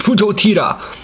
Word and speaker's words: PuToTyra: huge fan of the PuToTyra combo. And as some may say, oh, you're saying it wrong, it's PuToTyra. Originally it was supposed to be PuToTyra.